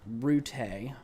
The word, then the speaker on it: Rutte: There was a meeting with NATO today with Mark Rutte. I've learned that's how you pronounce his name. You don't combine the Ts, you pronounce each of them individually.